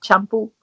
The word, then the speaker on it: Champú: It's spelled CHAMPU, accent on the U, Champú.